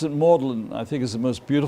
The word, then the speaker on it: Magdalen: Magdalen, or as they pronounce it, Magdalen, I think is the most beautiful tower in this whole collection of colleges.